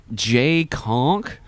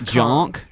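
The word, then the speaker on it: Jahnke: He Jay Conk. Chukon. Do you got JKOHNKE? If it's wrong, correct us. Continue. J is silent. It's Jonk.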